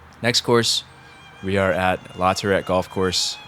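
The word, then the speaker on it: LaTourette: Next course, we are at Lerette Golf Course. Lerette, as the Staten Island guys pronounce it.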